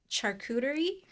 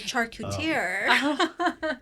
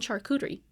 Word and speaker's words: charcuterie: Can you guys finally clarify how do you pronounce the word charcuterie? Charcuterie. Yeah. That's Okay. right. That's yeah. Because Charcuterie? I know. Charcuterie. I Yeah. used to call it charcutier.